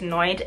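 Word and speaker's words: NIOD: So this is the Noid, I think it's pronounced Noid, N-I-O-D, and this is their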